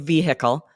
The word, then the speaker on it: vehicle: I grew up saying vehicle, saying the Really? H, but I know when I speak quickly, you kind of drop it because we don't have time to stop and pronounce that H. That's interesting. I've never pronounced the H in That's vehicle. funny. So we learn now that either way is correct.